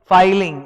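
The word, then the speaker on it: filing: देखो double L का मतलब होता है फिलिंग, सिंगल एल का मतलब होता है फाइलिंग। समझ लो मैं क्या बोल रहा हूं, pronunciation फाइलिंग, एफ आई एल आई एन जी, फाइलिंग, और डबल एल मतलब फिलिंग, तो वो फाइलिंग होना चाहिए, ये मैं पढ़ाऊंगा।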